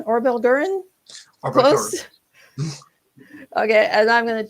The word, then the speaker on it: Orbbelgguren: an author of the fantasy fiction series called or elgram it means dark elf um it means spider